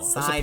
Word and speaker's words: Psyduck: Psyduck. It starts with a silent.